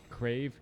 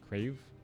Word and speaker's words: KraV: This is a large number of ghouls, and KraV is pronounced with a V. KraV. Okay. Like a V sound? Alright. Is it Cray?